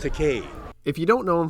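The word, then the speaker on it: Takei: get crazy and shockingly famous oh my George takai it's pronounced teay if you don't know him from Star Trek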